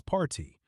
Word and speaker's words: Parti: It's party. Like party without the Y sound at the end. Kind of rhymes with hearty.